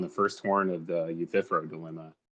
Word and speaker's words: Euthyphro: Yeah, you know how Y can sometimes take a long E sound? That's the only reason Jovan was commenting. It's pronounced Euthyphro.